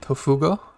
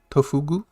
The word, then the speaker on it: Tofugu: below the video it is a website called tofuga tofugu i messed that up that's okay and it